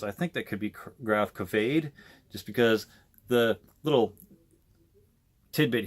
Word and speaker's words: Gravkväde: the little tidbit here, an A with the 2 dots above it normally makes it pronounce the noise, or any letter with the 2 dots normally makes it pronounce the noise. So if it's an O, it's ode, or if it's an A, it's A.